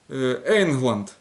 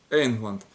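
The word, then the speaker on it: ענגלאַנד: И, допустим, как пример, Англия будет Эйнгланд. Эйнгланд.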